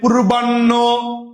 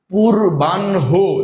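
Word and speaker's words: পূর্বাহ্ণ: হবে নিচে বসার কথা আবারশায়ান এটা কিন্তু আমরা উচ্চারণ অনেকে ভুল করি অনেকে বলি পূর্বান্য মুদ্যান্্য অপরাণ্য সায়ান্য নট এটা সম্পূর্ণ ভুল এটা সম্পূর্ণ ভুল উচ্চারণ এটা হবে পুরবানহ যারা উচ্চারণের ক্লাস করেছেন তারা তো ভুল করবেন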